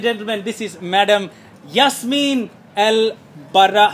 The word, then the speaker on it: Baramawy: Ladies and gentlemen, this is Madam Yasmine-El Baramawy. How do I pronounce it?